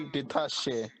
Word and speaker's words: detalle: It is no detalle. L. Uh-huh. Did you Okay, so recognize it? yeah. Would an Argentinian say detache?